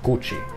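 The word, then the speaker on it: Củ Chi: day two you should go and visit the Gucci tunnels it's spelled chuchi and it took me some time before I realized that it's actually pronounced Gucci but you should go and visit them when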